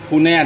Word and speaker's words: Funai: Theo tiếng Anh các bạn đọc là Funai thì đúng hơn.